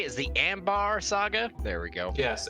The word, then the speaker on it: Ambar: Is the Ambar Saga?